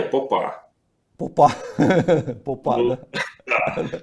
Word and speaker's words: Попа: Ну, вообще-то, как бы, если правильно ставить ударение, Попа.